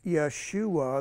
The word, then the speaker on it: Jeshua: Okay, so so Jeshua, pronounced Yeshua, means salvation of Yahweh.